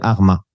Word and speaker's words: Harma: familles renommées de la ville de Harma que l'on prononce Hurma en arabe.